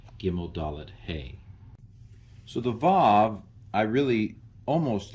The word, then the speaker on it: Vav: Vav. It used to be pronounced wow.